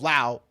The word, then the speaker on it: Lao: so basically the people of Lao thought we were uh dummies for saying it with the S so we need to drop the like Nevada Nevada exactly